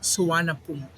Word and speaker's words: Suvarnabhumi: but in Thailand they say it Suvarnabhumi. Okay. Yeah, so they have silent letters when they say the word exactly by their local dialect instead of reading it in English.